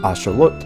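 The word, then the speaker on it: āxōlōtl: to Mexico and named by the Aztecs who originally pronounced it as Asher looked as they were named after the Mexican god Sholo.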